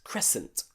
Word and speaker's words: crescent: famous crescent moon crescent that c in there we don't pronounce okay we just pronounce the s scent crescent okay also in words